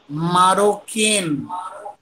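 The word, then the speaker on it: marocain: Discuss किया है कि इंग्लिश में जो सी फॉर कैट होती है उसमें अगर सेदिला ना हो तो फ्रेंच में प्रोनाउंसिएशन होगा लाइक क, क से कबूतर, ठीक है? सो pronunciation is here मारोकेन, मारोकेन सर, मारोकेन spelling,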